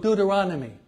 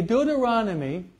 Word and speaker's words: Deuteronomy: Exodus Leviticus numbers and this is hard to pronounce maybe we can learn it today it's called Deuteronomy can you say that try to say it again okay Deuteronomy okay nomos due to enormous it means the